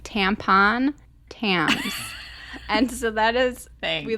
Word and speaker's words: Thames: One's just in, and I learned how to pronounce the river. It's the river Thames, like tampon, Thames.